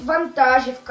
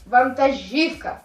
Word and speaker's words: вантажівка: правильно розберемо слово нтажівка деякі люди кажуть вантажівка або вантажівка Але треба казати вантажівка запам'ятайте крім того правильно говорити